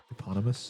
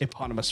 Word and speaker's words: Eponymous: Can you pronounce that for me? Eponymous. Eponymous.